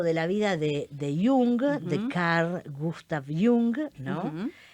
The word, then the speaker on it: Jung: viste que muchas veces algunas personas lo nombran como yang porque le suena norteamericano Pero no él era suizo Eh entonces su nombre se se pronuncia Carl gustav jung no sé si lo digo un perfecto alemán austríaco Bueno pero él o